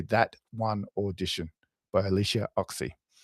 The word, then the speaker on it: Ochse: One Audition by Alicia Oxy. Oxy is spelled Ochse, Alicia.